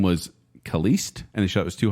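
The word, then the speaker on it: Caliste: original last name was kaliste and the show was too hard to pronounce let's change it to the Knight oh Khaleesi okay yes I get it not Celeste so c-a-l-i-s-t-e huh weird at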